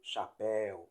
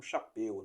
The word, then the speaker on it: chapéu: ou não de S exemplo chapéu veja que a pronúncia é aberta e não chapeu né troféus Anéis réis